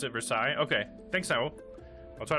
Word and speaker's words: Versailles: i just there's no you don't say the l's i guess we were